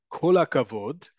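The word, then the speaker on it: כל הכבוד: Kol hakavod, one word, kol hakavod. Think of it like kol hakavod. Kol hakavod sounds more like a native speaker.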